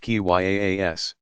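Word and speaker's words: qiyas: of reasoning by analogy kia's pronounced ki yaa s that followed strict rules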